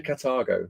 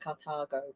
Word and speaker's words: Carthago: Paul So- Bassett, There's a lot of people who can pronounce it different ways, and it's actually Carthago. Carthago. I don't Yeah. know if you agree with that. Yes, but no, that's what they've read. They said it's pronounced Carthago, Yeah. not Carthago. Carthago. Yeah, so you have to say cat.